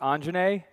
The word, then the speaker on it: Anjney: My name is pronounced Anjane.